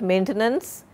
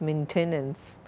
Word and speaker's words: maintenance: Many a time I find students skipping the vowel E here. It is not maintenance, it is maintenance.